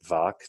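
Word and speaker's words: vāc: from the rigveda forward is sometimes pronounced voc depending on the context and that's cognate with the latin word vox for voice or um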